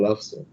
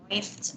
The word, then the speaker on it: läufst: Oh iya, kedua ya, du laufst. Du läufst bacanya.